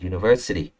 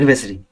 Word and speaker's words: university: Đấy, thì phải university, chưa, không phải university.